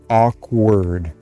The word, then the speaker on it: awkward: But for now, aw, aw, awkward, awkward, just like word that it's hard to pronounce.